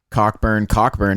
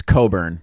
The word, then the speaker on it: Cockburn: Last week I called Kofi Cockburn, and it's Coburn. Apparently that CK is silent.